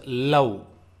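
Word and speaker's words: ಲೌ: And it is pronounced like L-O-U in loud.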